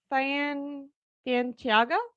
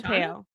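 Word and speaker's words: Fautanu: Troy Fantiago? Nope. Patano? Fonteo. Yep, that's how you say that.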